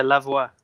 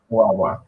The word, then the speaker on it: Lavoie: How do you say your last name? I've been practicing it all day today. Yeah, Lavoie. That's right. Lavoie.